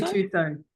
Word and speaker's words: Gattuso: Rosemary Gattuso? Gattuso.